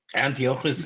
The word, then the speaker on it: Antiochus: thank you thank you in the show they actually pronounce it a little differently but antias is the way that it is pronounced yeah and uh to